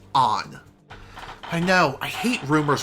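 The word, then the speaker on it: Ann: know what i said her name is pronounced on i know i hate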